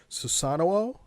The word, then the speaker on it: Susano: So the way that in the video that the voiceover lady pronounced it is Susanoo, but I only see one O, so I don't know where the fuck she's getting Susanoo. Yeah, it looks like Susano to me, but that's clearly wrong.